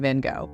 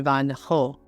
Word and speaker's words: Van Gogh: or even heard of Vincent Veno or rather Vincent Van ho though I'm definitely butchering the Dutch pronunciation while Vincent was alive